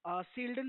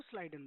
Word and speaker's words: Schleiden: देखो बहुत सारे लोग सील्डन प्रोनाउंस करते हैं। हम इनको स्लाइडन बोलते हैं।